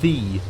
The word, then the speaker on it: the: But if you didn't know, whenever there's some old-timey text and it's like a Y-E, so it's like ye old tavern, yeah, for example, that's actually would have never been pronounced ye, but rather the.